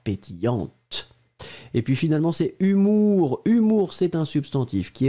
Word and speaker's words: humour: Faites attention parce que des fois c'est un petit peu difficile à prononcer. Ici c'est humour. Hein? Humour, souvenez-vous qu'il y a aussi humeur. Je me réveille de bonne humeur, mais ici c'est l'humour.